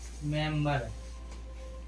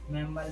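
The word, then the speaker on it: member: मेंबर, मेंबर में भी बी के पहले एम आया है, लेकिन ये अपवाद है, इसमें बी का उच्चारण होता है।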